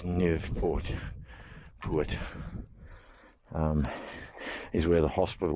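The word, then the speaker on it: Naauwpoort: salmon apparently nerve Port I was always saying it wrong I was saying na put it's nerve Port put um is where the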